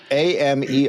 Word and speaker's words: Americus: Is it like America plural or it's spelled? Americus? So like if we swore, it's like okay, Americus. Okay, yeah, it's like cuss. It is cuss.